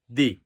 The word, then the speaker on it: the: এর আগে থাক যেমন স্পোক টু দি প্রেসিডেন্ট যখন আমরা বলি হ্যাঁ প্রেসিডেন্ট এর সঙ্গে দি প্রেসিডেন্ট জোড় প্রদান করে বলি এইজন্য এখন জোড় প্রদান করার ক্ষেত্রে এখানে ভাওয়েল থাক ভাওয়েলের পূর্বে বসুক বা কনসোনেন্ট এর পূর্বে বসুক তখন উচ্চারণটা হবে দি আশা করি বুঝতে পেরেছ